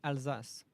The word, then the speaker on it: Alsace: Wing, it's pronounced Alsace. Alsace. That's how the ship is pronounced. Yeah, it's not the easiest, not the hardest. I emphasize the S more than the Z sound because I'll say Alsace. Yeah, you cannot do say Alsace. Yeah, it's Alsace. That's how you pronounce it in French, at least.